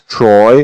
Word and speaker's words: Troy: on the right plan, that's Troy or Troia, how the Americans say Troy, and Greeks say Troia.